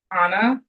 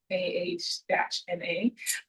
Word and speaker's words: Anna: Instagram, it's pronounced Anna, AH-NA.